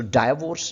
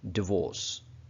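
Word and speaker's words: divorce: सो डाइवोर्स नहीं है, बल्कि ये क्या वर्ड है? डिवोर्स।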